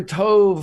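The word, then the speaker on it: טוב: Boker Tove is not terrible. That was good. I think it's Tov. How would Tov. I was like, is it Tov or Tove?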